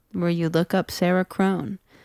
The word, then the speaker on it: Krohn: And you can find my music anywhere where you look up Sarah Krohn. Crohn is spelled like Crohn's disease, but with a K.